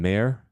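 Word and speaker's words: Maher: Uh singing a a Matt, how do you pronounce his last name? Mayor. Is that Matt Mayer? Matt Mayer.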